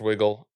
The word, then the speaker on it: Wigle: I I believe it's pronounced Wiggle. I'm not entirely sure.